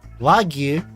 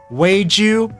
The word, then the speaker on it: wagyu: language, maguro, sake, hotate, weiju. Now I am pronouncing weiju purposefully this way because I have seen the menu before, and we're gonna get to why I'm pronouncing wagyu as weiju, nasu, and kani.